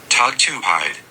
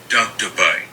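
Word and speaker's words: tugtupite: Okay, how do you pronounce it though, Google? Let's see. There we go. Tug to Pite.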